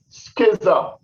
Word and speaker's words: schism: The word is pronounced schism, meaning what?